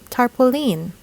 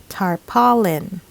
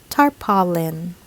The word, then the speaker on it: tarpaulin: how to pronounce correctly normally we would say tarpaulin but actually this should be pronounced tarpaulin tarpaulin not tarpaulin it should be tarpaulin before we get to the top three words